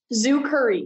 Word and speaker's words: Zukurri: i pronouncing that right zoo curry yes so thank you curry and then curry like the spice okay awesome yeah so